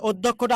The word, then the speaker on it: অধ্যক্ষ: ভাইয়া অধ্যক্ষটা আরেকবার বুঝাবো এই যে দেখুন অধ্যক্ষ জ ফলা আছে জ ফলের আগে একটা অ আছে জ ফলের আগে কি আছে অ আছে এই অ টা কি হবে ও হবে ও তাই না ধ জ ফলে থাকলে দ আর ধ দিতে হয় দ আর ধ তাহলে ও ধোক এই যে